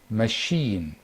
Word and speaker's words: machine: The stress now is on the second. The stress is on the second syllable. Hotel, hotel, improve, improve, provide, provide, machine, machine, police, police.